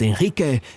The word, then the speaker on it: Enrique: age he's missing and it's actually pronounced Enrique because that one is Argentinian but at first glance